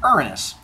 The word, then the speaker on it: Uranus: Gods to be born I am going to pronounce them the Greek way which is Gia and Uranus but I've been teaching Junior High a long